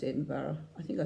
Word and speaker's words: Edinburgh: mocker Edinburough ly and for you Americans it's pronounced Edinburgh I think I said